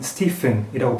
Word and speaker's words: Stephen: 우리말로는 스테반이지만 영어로는 스티픈이라고 발음합니다.